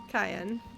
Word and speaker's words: Cayenne: cayenne which is but it's spelled differently but it is pronounced cayenne but he's never made